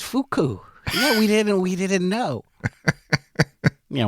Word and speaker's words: Fuku: It's pronounced fuku.